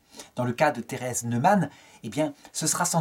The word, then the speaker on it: Neumann: Neumann, c'est comme ça que ça se prononce en allemand.